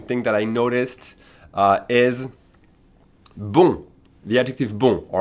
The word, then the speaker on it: bon: Un bon élève. Spelled B-O-N, masculine, pronounced like the feminine.